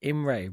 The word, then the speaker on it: Emre: On the interchange, Tom Starling, Emery. Is that Emery or Emre? Who? I think they pronounce it Imre, but I'm not like the E silent.